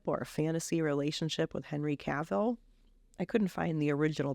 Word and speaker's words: Cavill: it right is it cavil caval caval caval is pronounced like travel travel Kevin Kevin Wentz